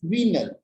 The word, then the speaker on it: venal: Next is venal. So many people pronounce it as venal. This is not venal, it is venal with a long E.